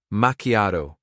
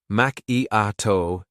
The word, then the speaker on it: macchiato: Macchiato. Macchiato. Emphasize the A. Avoid saying macchiato.